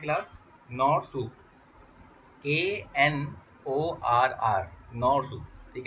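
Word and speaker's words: Knorr: आप लिख सकते हैं class नॉर soup, ANORR, नॉर soup, ठीक है। के साइलेंट है इसमें।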